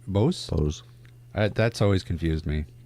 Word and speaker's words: Bose: There's no swoosh over the E on Bose. The English language has a lot to apologize for. Yes. Okay, so tell us, Steve, what's going on with these Bose headphones?